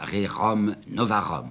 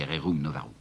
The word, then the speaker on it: Rerum Novarum: c'est la fameuse encyclique que je prononcerai comme on prononçait à ce moment-là, Rerum Novarum, si vous voulez, Rerum Novarum.